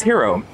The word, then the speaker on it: gyro: how to pronounce that I've been calling it gyro forever but it's hero um until I went